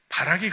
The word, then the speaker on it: 바락: 들어갈 자로 소개하고 있다는 거예요 자 그다음에 바라이 바락 발음이지 그렇죠 바락 자 바락은 이스라엘을 못살게 굴던 가나안